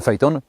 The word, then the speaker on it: Phaeton: powinna być koncepcja aitona fejton fitton może Peyton wymawia się Fight On nie ma za co